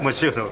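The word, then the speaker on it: Mchunu: Can you speak on, I don't want to mispronounce his name. Tabiso Machunu. Machunu, thank you.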